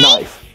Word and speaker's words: knife: Well, Jeffy, it's not pronounced knife. No, it's not. There's a K, so you pronounce it knife. Well, Jeffy, the K is silent.